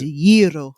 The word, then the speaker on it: gyro: It's gyro, and you have to roll the. You have to roll your R's and whatnot.